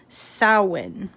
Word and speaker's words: Samhain: get people away from uh celebrating the celtic sowen which is spelled like samhain but it's pronounced samhain and